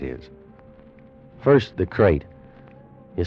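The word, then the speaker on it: krait: Tonight, we escape to India, and the story of a man trapped in his bed by a crate, the most deadly, poisonous snake in the world, as Roald Dahl tells it in his terrifying story, Poison.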